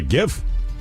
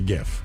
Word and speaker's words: GIF: say GIF. It's the graphics interchange format, and he created it for the acronym to be pronounced with a soft G that sounded like the peanut butter brand of Jif.